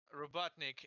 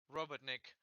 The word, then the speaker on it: Robotnik: they said the Eggman's nickname with the wrong accent. So, but they said Robotnik instead of Robotnik, because in Russian, if you say the accent on the last syllable, on the second from the end, then it would literally sound like you're saying worker, which is bad because